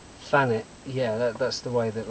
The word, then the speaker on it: Thanet: This is a very talented individual who comes from up the road in, you would say, Thanet, is that right? Thanet, yeah, that's the way that locally it's pronounced, yeah.